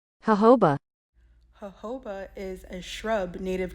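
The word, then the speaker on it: jojoba: smell of chocolate now I know it is these continents that are messing us up with this word but here's how you actually say it hoba hoba is a shrub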